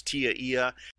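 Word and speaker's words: TIA/EIA: the way Tia eia which people commonly pronounce as Tia that stands for telecommunications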